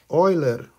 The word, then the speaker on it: Euler: in the box uh pay attention how you pronounce euler euler okay moving further i want to show you